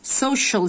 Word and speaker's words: social: Social Studies Social Studies Social CIA نطق ش, Social Studies اللي هي